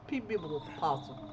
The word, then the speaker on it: PebblePossum: Pebblepossum.